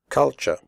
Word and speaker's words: culture: The first U is pronounced like the U in but, and the last syllable is pronounced ch.